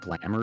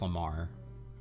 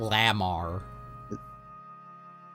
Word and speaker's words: Lamar: Kendrick Lamar, right? Not Lamar. Lamar. Yeah.